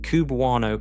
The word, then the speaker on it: cubewano: Astronomers pronounce the designation QB1O, which eventually became cubewano, and the name stuck as a label for the entire class.